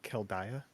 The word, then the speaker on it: Khaldaia: She said Keldaya? I will spell it for you. Khaldaia. Kaldaya.